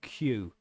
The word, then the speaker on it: queue: That's right, queue is the longest word in the English language that has 4 silent letters or something like that. Because you only really need the first letter, but you got Q, U, E, U, E. All of those letters are redundant.